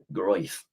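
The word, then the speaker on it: Ilia Gruev: say your name Ilia G I say I'm going with gr with Ilia G I mean it's nice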